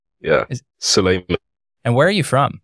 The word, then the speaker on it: Sulaiman: So I should have asked at the very beginning, how do you pronounce your name? I don't want to say it wrong. Yeah. Suleiman.